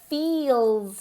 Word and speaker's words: feel: really focus on the pronunciation of feel. Feel, como si esa I tuviese dos sílabas.